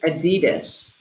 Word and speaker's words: adidas: loves adidas or in in the United States we pronounce it adidas I have an exciting